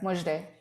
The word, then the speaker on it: Mojdeh: my hand and said i'm here most day that's how you say my name my whole life i